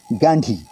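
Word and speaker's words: Ghandy: मिसेज गांधी के जो पति थे फिरोज गांधी उनका जो मूल नाम था वो था फिरोज जहांगीर गैंडी गैी की स्पेलिंग थी जी एच ए एन डी वाई और उनके पिताजी थे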